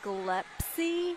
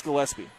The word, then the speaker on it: Gillespie: in my saddle you you say galepsy it's gillespie it's i believe it's gillespie yeah i'm just gonna